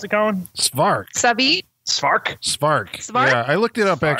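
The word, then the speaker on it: Jeannot Szwarc: I'm like, how do you pronounce? Oh, we know Jeannot Spark for.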